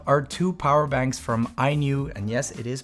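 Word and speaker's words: INIU: Next up are two power banks from iNew, and yes, it is pronounced iNew, a brand I learned about only last year, and they are quickly becoming a charging favorite of mine.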